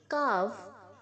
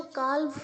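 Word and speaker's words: calve: Okay, कार्व, कार्व्ड, कार्व्ड, L silent है बच्चों, काल्व नहीं है, इट्स नॉट काल्व, इट्स कार्व, L silent है।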